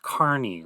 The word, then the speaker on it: Kearney: like it's pronounced or it looks like the word Kearney but they told me it's pronounced Carney like uh like somebody